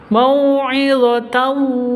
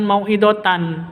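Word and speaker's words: موعظة: Mau'izatan seperti itu, bukan mau'idatan, tapi mau'izatan wa tafsilal.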